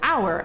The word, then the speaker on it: hour: period yes in english there are instances where we don't pronounce the letter h like when a word